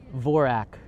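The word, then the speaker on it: Dvořák: for that but the vorak the d is silent in d'vorak see I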